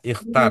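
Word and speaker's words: اختر: Ikhtar. Ingat ini menunjukkan perintah ya. Kata-kata yang menunjukkan perintah ee huruf terakhirnya itu sukun.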